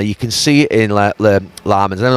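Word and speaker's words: Lammens: You can see it in Lamans. I don't know how to pronounce his name. I say Lemons and they're calling Lamans.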